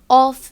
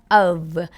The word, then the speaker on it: of: चीज़ फिर से बताऊंगी, OF ऑफ नहीं होता है, OFF ऑफ होता है. Please switch on the lights, please switch ऑफ the light. उसमें ऑफ की प्रोनाउंसिएशन ऑफ होती है, लेकिन यहाँ पे OF ऑफ में प्रोनाउंसिएशन होती है अव अव अव. इट इज़ नॉट ऑफ.